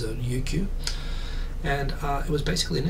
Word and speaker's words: Ryukyu: The Chinese, I think, spell it Ryukyu, like with an L. Of course, Japanese doesn't have an L, so in Japanese it's known as Ryukyu.